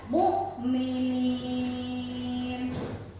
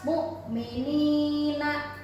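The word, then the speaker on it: مُؤْمِنِين: Mukminin. Naknya, suara naknya di belakang n-nya sudah hilang. Bukan lagi dibaca mukminina, tidak lagi. Tetapi mukminin. Nah, ini dibacanya antara 5 sampai 6 harokat.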